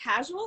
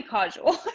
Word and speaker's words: causal: Wait, is it casual or causal? Oh, it might be causal. Yeah, I might be pronouncing it wrong. Yeah, I causal. like casual.